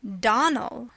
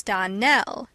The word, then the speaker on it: Darnell: Clarice Elmyra told me that you pronounced our name Donald. Now, Miss Shirley, the correct pronunciation of our name is Darnell. Accent on the last syllable.